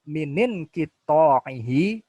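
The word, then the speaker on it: مِنَ انْقِطَاعِهِ: Ini hamzah itu hamzah wasal ya, jadi harus dibaca sambung ya. Jadi bacanya minin qita'ihi wastamarrathnai asyara yauman wan qata'a.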